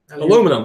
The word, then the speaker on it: aluminum: Aluminium. No, aluminum. Yes, I know. Aluminum is the correct way to say it. It's aluminium. Aluminium foil.